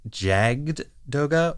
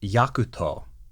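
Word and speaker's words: Jagd Doga: d o g a you might think that that is supposed to be jaged Doga or yaged Doga in the Japanese it's yakuto yakuto Doga now initially I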